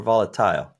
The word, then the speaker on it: volatile: Volatile or volatile? Volatile is what I say. Volatile. Okay, excellent. Back to our pronunciations. But you say volatility, not volatility. Right. Volatility, volatile.